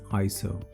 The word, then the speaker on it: ISO: introduce you to iso it is properly pronounced as iso iso works in conjunction